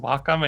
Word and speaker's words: Wacom: just want to let you know that it's pronounced Wacom.